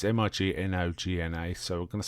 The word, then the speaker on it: Mignogna: And Vic, I'm not quite sure how to pronounce this. It's Mignogna, so we're going to say Vic Mignogna.